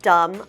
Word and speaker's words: dumb: sentence is what a dumb idea same thing it's kind of like the word numb we don't pronounce the b so pretend it is d m what a dumb idea that's all we